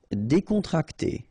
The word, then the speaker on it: décontracté: Décontracté. Okay, so you've got accent aigu here and here, so it's E.